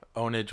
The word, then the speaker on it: Pwnage: people who would say Pwnage, but then people started saying Pwnage because it was kind of like sardonically cool. Mm-hmm. Is that a thing? Yeah, it was. That's kind of weird. Onage was the right way to say it, though.